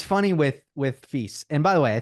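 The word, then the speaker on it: Fils: it's funny with with feast and by the way I think you you're supposed to pronounce the S the S is in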